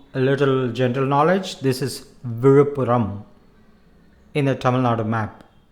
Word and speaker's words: Vizhuppuram: One that you can also use and get to hear often is the town Vizhupporo that rhymes with apparo, or even colloquially apparo, then afterwards.